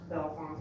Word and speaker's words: Bellefontaine: Well, what's Bellefontaine pronounced? Bellefontaine. Bellefountain. It's Bellefontaine. So. I don't care how they pronounce it, Bell Fountain.